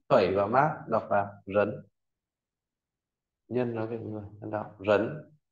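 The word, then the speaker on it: 人: Và à, tiếp theo bộ nhân phẩy và mác đọc là rấn.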